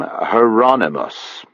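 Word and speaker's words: Hieronymus: He pronounced the first name Heronmos. I thought that was how you said it. Rhymes with anonymous.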